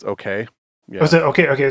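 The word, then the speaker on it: OKeh: coined in 1922 by Oka records I think that's how you say it okay I've always heard it pronounced okay yeah was it okay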